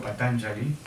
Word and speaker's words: Patañjali: no bien hablar de de patanjali como deberíamos pronunciarlo patanjali e es hablar realmente del autor de este